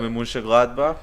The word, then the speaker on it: Mönchengladbach: Borussia That's how it's pronounced. Mönchengladbach.